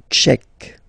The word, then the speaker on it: tchèque: La République tchèque. So remember, Q-U-E, K, Czech. La, and then here as well, République. La République tchèque.